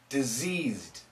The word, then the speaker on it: diseased: vibrating vibrating off here and there's vibration right here this is the Z sound so that red color will be the Z sound disease disease diseased diseased diseased the tongue